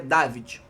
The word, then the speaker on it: Davide: Eu vi aí a pronúncia em italiano dele, dizem que é David, né?